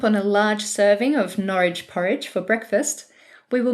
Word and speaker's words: Norwich: I always struggle to know how to pronounce the names of some of these cities, but Mum was told that it has to rhyme with porridge. So Norwich is an old city and was once a centre for the textile industry.